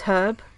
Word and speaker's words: herb: I think the merchant pronounces herb like herb it's like I know what you are you're a fake Brit if you pronounce it herb like herb no you're not you're not you're not British you're not even Australian that is purely an American thing I think also I